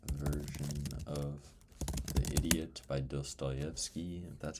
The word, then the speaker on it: Dostoevsky: I need to read shortened version of the idiot by dsttoyki.